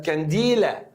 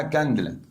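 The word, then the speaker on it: candela: يا جماعه عشان في ناس بتنطق نطق غريب قوي، بصراحه نطق غريب قوي، يقول لك كانديلا، كانديلا، مفيش الكلام ده، اسمها كاندلا. اليه سايلنت شويه، جاي من كلمه شمعه، شده الاضاءه، كاندلا.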